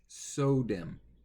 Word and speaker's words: SODIMM: It's SODIMM. S-O, pronounced just like you're saying the word so, or S-E-W.